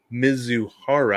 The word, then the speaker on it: Mizuhara: HR was waiting in the clubhouse for Ippei Mizuhara. I put the pronunciation there for myself, Brig.